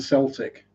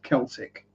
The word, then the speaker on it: Celtic: Watching people get confused with Celtic and Celtic. If you're referring to the football team from Glasgow, it's Celtic.